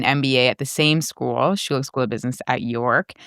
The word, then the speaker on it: Schulich: Schulich, so it's pronounced Schulich School of Business at York School of Business, York University.